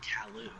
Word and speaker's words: Calus: Maybe the S in Calus's name is silent. Oh, man. It's pronounced Kalu. Wait up!